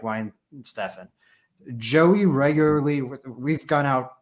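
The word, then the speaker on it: Weihenstephan: Like I said, it's pronounced Wine Stefan. That's how you say it. Wine Stefan.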